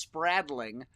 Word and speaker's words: Spradling: throw that out there my name is pronounced spradling uh and it's uh it's funny if you just read it it's how it's it's how it's spelled but it's amazing how